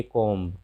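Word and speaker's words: comb: जैसे अब हम एग्जांपल लेते हैं, ये कॉम, कॉम मतलब कंघी। तो कॉम लिखा है, एम के बाद बी है, यहाँ पे बी का उच्चारण नहीं होगा और हम पढ़ेंगे इसे कॉम।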